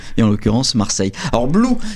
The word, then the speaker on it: Bloo: en l'occurrence marseille or blue ça s'écrit bl 2 o mais ça se prononce blue oui donc pourquoi bl